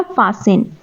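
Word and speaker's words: fasten: वो एक वर्ब है इसमें टी साइलेंट होता है हम इसे फास्टर नहीं बोलेंगे फसन बोलेंगे मैं बेल्ट लगा रही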